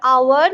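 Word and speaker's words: hour: इसका वावेल की तरह प्रोनाउंसिएशन है, एच ओ यू आर, आवर, बट एच है silent. H ओ एन ई एस T, honest, but एच है silent, इसीलिए एन बैठता है।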